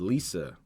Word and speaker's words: Lesia: Her name is Lisa, right? And her name is spelled Lesia. When you hear that don't look like Lisa or spell like Lisa, right?